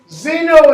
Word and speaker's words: xeno: Now, xeno is spelled how? X-E? N-O. And the reason that it's X-E is because X that comes before a vowel does what? Change to Z. Changes to the Z sound.